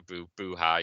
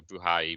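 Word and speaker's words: Buhai: uh b-u-h-a-i okay uh I'm going for buhay somebody goes for buhari but I'm gonna go for Ashley buhay but um the victory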